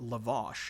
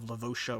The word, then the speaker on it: Lavash: that E off, and they have finally pronounced it out loud and decided to call it Lavash instead of Lavosha or Lavasha.